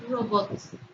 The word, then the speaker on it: robots: Por ejemplo, la palabra robots. Robots suena o tiene su sílaba tónica en la última sílaba.